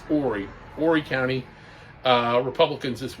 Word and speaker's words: Horry: the horry county it's spelled h-o-r-r-y like hoary but it's pronounced ori horry county uh republicans